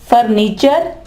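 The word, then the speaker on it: furniture: पंक्चर फर्नीचर फ्यूचर मिक्सचर और पंक्चर ठीक है यहां पे ये जो है वो फिर चे की आवाज देगा जी दोस्तों अब पढ़ते हैं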